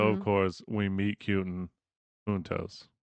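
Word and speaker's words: juntos: Huntos. Write down huntos means together in Spanish. In Spanish. It's spelled j u n t os.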